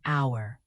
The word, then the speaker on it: hour: The silent H in hour, the linked T and A in what about.